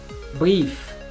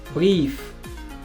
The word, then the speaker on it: Brief: Maintenant, cette combinaison, c'est IE qui se prononce I. I. Pas I, mais I. Un I long. I. I. Par exemple, brief. Brief. Pas brief, mais brief. Brief.